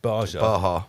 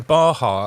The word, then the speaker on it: Baja: Remember that word, Baja? Baja. Is that how you say it? Yeah, Baja.